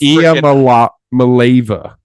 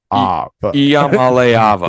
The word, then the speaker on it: Iamaleava: Like yeah, it's Iamalava. Iamalava. Yeah. That's what. This is great podcasting. I love this. Iamalava. Oh, that's right. Iamaleava.